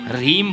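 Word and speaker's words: ह्रीं: मकार का उच्चारण होगा तो अनुस्वार के बाद में कुछ है नहीं तो आप उसको अम बोलेंगे रिंग नहीं बोलेंगे रीम बोलेंगे क्लिंग नहीं बोलेंगे क्लीम बोलेंगे अ यह व्याकरण का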